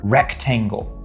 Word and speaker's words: rectangle: So like if we have the word rectangle. Rectangle. The stress is on that first syllable.